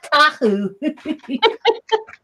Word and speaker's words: Tahu: Siva Tahu. I was pronouncing it with a P-A-U instead of a T-A-U.